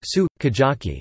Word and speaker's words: sukiyaki: For example, the Japanese word sukiyaki is pronounced su kajaki and may sound like skijaki to an English speaker, but the lips can be seen to compress for the u.